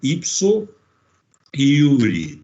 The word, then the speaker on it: ipso iure: isso ao mesmo tempo, ipso iure. Se escreve ipso, do jeito que se fala, jure. O J em latim tem o significado e a fonia de I na língua portuguesa.